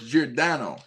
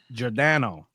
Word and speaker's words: Giordano: So, it's Jano. Jano.